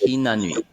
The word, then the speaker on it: Hinanui: Yeah, so it's Hinanui. How H would I I spell it? H-I? N A Yeah, N-A. N U I. Hinanui. Hinanyi.